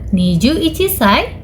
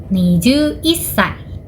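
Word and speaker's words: にじゅういっさい: 21 dalam bahasa Jepang adalah nijuichi. Maka usia 21 tahun dalam bahasa Jepang adalah nijuichisai. Nijuissai.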